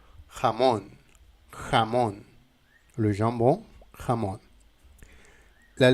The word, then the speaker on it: jamón: Continuons avec la lettre J. J. Et c'est la même situation qu'avec la lettre G. On prononce tout le temps J. J. Par exemple, dans le mot jamón.